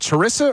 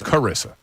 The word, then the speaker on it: Carissa: Wait, is it Charissa or Carissa? What is it? Carissa. Yeah.